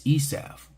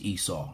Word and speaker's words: Esau: is America it's white christiandom right Christianity is esaf Esau Edom you know because the rabbis say esaf it's kind of fun saying it that way so but it's pronounced you know in English it's pronounced Esau and Edom okay but uh but they they